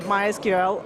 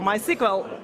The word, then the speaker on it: MySQL: why why because actually the name of the database goes after the name of the first daughter of the guy who originally brought the